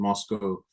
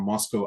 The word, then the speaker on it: Moscow: But actually, it's one of those things where if you really want to know if someone's really from Moscow, Idaho, it's pronounced Moscow as opposed to Moscow, So one of those very interesting distinctions.